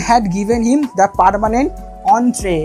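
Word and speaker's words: entrée: অ্যান্ড had given him the permanent অন্ট্রে, এটা হচ্ছে French word, এন্ট্রি নয়, এন্ট্রি যেটা আমরা বাংলায় বলি এন্ট্রি, এখানে স্পেলিংটা দেখে এন্ট্রি বানাননি, এখানে উচ্চারণটা কী হবে, ফ্রেঞ্চ ওয়ার্ড, এর উচ্চারণ হবে অন্ট্রে।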